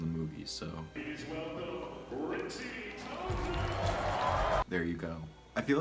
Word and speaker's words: Tozier: Some people say Tozer, some people say Tozier, but this is how it's pronounced in the movie, so. Please welcome Richie Tozier!